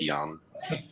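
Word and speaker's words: Jan: Many people call me. That's a silly nickname I gave myself uh when I was working with the Americans and they couldn't pronounce Yan for some reason.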